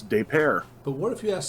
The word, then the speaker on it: Des Peres: They don't pronounce it Des Perez. It's Des Peres.